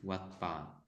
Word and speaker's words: Wat Pa: So the B and the P both are pronounced as P only.